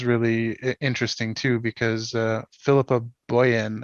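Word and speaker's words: Philippa Boyens: interesting too because uh philippa boyen i think is how you say her name is actually producing this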